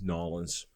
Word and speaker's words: New Orleans: Orleans or Nolans as New Orleans nawlins as they pronounce it down there or at least the